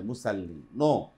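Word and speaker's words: مصلين: মুসাল্লিন বল উচ্চারণ জিহ্বার আগা সামনে নিচে দুই দাতের সাথে লাগিয়ে মোটা করে আওয়াজ করে মুসাল্লি হবে না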